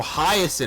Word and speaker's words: Hyacinth: Oh, Hyacinth, that's how you say it.